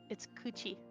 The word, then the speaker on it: kuchi: No, it's kuchi. And he said it, but it just always makes me laugh because that's it's kuchi.